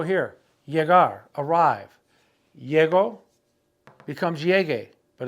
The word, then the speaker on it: llegue: Llego becomes llegue, but it's got to be G-U-E to maintain the hard G sound, llegue.